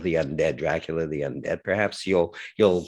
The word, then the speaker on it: Dracul: believe it's called dracul that's how i would say it as a montrealer perhaps uh a canadian would would say or an american might pronounce it differently but i would say dracula dras without dracula without the a at the end pretends to be this